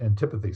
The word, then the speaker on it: antipathy: uh propath and the antipathy right so right also I guess it's pronounced antipathy sometimes depends on if you're a Brit or not right antipathy so